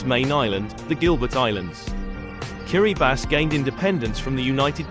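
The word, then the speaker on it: Kiribati: the east the name Kiri bass is the local pronunciation of the word Gilberts which comes from the country's main island the Gilbert Islands Kiri bass gained independence from the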